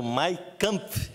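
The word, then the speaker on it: Mein Kampf: trouxe o exemplar do My Camp não é camping em alemão é a pronúncia correta em alemão é essa mas jogou pesado e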